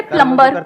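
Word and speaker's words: plumber: सर जैसे प्लम्बर, सब लोग प्लम्बर बोलते हैं हमारे देश में, बढ़िया है यार, क्या दिक्कत है?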